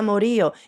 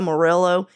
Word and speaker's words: Morillo: who are just like who's this Angelita Moro it's Angelita morillo if you're not a Spanish speaker and you're seeing that name truly if you're a West coaster and that's how you're pronouncing it I'm ashamed of you disappointed so there's also